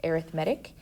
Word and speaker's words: arithmetic: arithmetic sequence it looks like arithmetic but it's pronounced arithmetic these are sequences that add or subtract terms